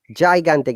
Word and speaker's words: gigantic: Remember, GI is ja, but GA is ga. Gigantic.